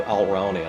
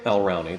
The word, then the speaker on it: Alraune: And that's the story of Alraune. I know the first time I told you this uh I ought to spell it because it's hard to figure out my pronunciation.